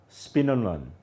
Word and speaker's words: Speenhamland: In 1795, in an English village called Spinnerland, it's spelled Speenhamland.